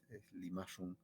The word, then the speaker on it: Limashun: Sin embargo, cuando nos referimos a estas publicaciones que llevan por nombre Limashun o como es la correcta pronunciación en el quechua huanca, es Limashun, eh, ya resulta bastante elogioso, ¿no?